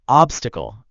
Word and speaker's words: obstacle: It should sound like obsticle. Can you try saying that? Obstacle. Okay, that was very close. The first syllable is ob, like an object, not ob as in all. Try again, focusing on ob instead of all.